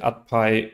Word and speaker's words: UDPIH: AdPi wird, glaube ich, ausgesprochen vom Gary oder nichts.